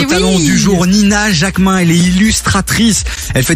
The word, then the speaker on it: Jacqmin: Yes, c'est Nina.Jacquemin et Jacquemin, ça s'écrit Jacquemin. Eh merci.